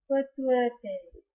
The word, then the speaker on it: pituitary: And this is pituitary. Pituitary. That's the correct way to pronounce these two words.